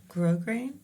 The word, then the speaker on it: grosgrain: grosgrain, Grosgrain. Yeah. grosgrain, which I hope Grosgrain is ironic for Brits because the S is silent.